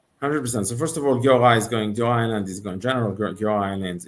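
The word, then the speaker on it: Giora Eiland: talk about, obviously, and also the bringing on General Island. Am I saying it right? Giora Island, yes.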